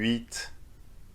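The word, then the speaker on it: huit: apprehend french reading so do you need to pronounce the final consonant or not well it depends for you don't but for sunk you eat nerf you do but it doesn't stop here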